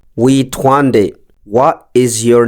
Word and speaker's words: Witwa: Today's Kirundi word of the day is Witwa. Witwa. The meaning of Witwa is what is your name? Witwa. What is your name? The pronunciation can be said as Witwa.